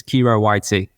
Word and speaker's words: Khero Witey: gut um I'm pretty receptive to any any pronunciation these days but it's KIRO YT um yeah so uh my my uh my